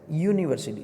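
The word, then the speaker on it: university: अभी इसमें यू ये वोवेल स्वर है, लेकिन उसका जो प्रोनाउंसिएशन है वो य से होता है, यूनिवर्सिटी, सो उसको एन नहीं लगता है लेकिन ए लगता है।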